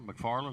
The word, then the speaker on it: McFarlane: Most are McFarlane, is that how you say it? McFarlane, yeah, McFarlane.